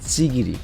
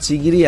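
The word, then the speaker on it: Chigiri: প্লেয়ারের নাম ছিল হচ্ছে চিগিরি। মানে উচ্চারণ করলে নাম চিগিরি আসে, বাট এই এনিমিতে ওর নাম প্রোনাউন্স করা হয়েছে চিগরি নামে।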